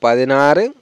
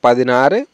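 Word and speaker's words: പതിനാറ്: 16কে বলবো পাদিনারে। আরে উচ্চারণ হবে এখানে পাদিনারে, এরকম হবে। 17কে বলবো পাদিনেরে। এরে উচ্চারণ হবে এখানে, হ্যাঁ পাদিনেরে।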